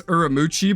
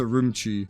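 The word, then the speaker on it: Ürümqi: I would be messing up as Uramuchi, but I'm pretty sure it's Urumchi.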